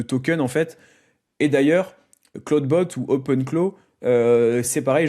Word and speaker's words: Clawdbot: Et d'ailleurs, Cloudbot ou Open Clow, c'est pareil, je l'utilise en avec mon abonnement Cloud parce que du coup c'est pas donc Cloud Bot, c'est pas un outil de d'entropique hein, c'est